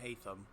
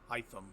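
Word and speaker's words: Hytham: It's not Hayam. Hyam. Got to get that one straight.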